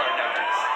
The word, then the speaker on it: Arnaoutis: And that is the pronunciation, by the way. We did check with Mighty Mike today because announcers seem to have a big problem with his name. We hear Arnaoutis, Arnaoutis. It's Arnaoutis.